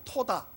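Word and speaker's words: תודה: 감사를 히브리어로 토다라 그러면 토다. 토다. 그렇게 발음하는데요, 그 의미는 감사를 드린다는 뜻으로 신앙 고백을 의미합니다.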